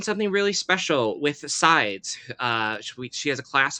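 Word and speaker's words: Seids: big Instagram handle uh it's spelled s-e-i-d-s sides uh her name is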